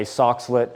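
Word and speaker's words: Soxhlet: my colleges we have a system called a socklet extractor I don't know if anybody's heard of that socklet extractor it's essentially spelled like s Sox h l t socklet extractor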